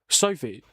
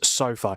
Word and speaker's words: SoFi: The pronunciation is SoFi. SoFi. So it's not Sophie, it's not...